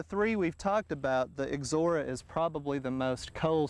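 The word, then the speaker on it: Ixora: it looks very interesting and and difficult to pronounce but again it's called exora this particular variety is Maui and usually you'll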